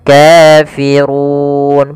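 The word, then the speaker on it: كَافِرُونَ: bacaan Mad thii kemudian Kafirun padafu di sini ro tebal yaitu ro tafhim rnya dibaca dengan tebal Kemudian pada lafal Run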